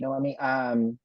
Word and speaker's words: Noemi: Yeah, and that's such a great point, Noemi. It's Noemi, right? I wanted to make sure I pronounced it right.